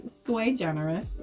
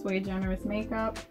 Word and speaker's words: SuiGenerisMakeUp: Yeah, it's SuiGenerisMakeUp. It's actually Latin for one of a kind. Latin for one of a kind. Yeah, so it's SuiGenerisMakeUp.